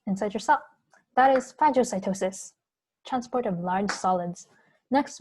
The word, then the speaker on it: phagocytosis: remember the difference between phagocytosis and pineal cytosis i think how fragile like starts with the ph which is pronounced f like food so phagocytosis food intake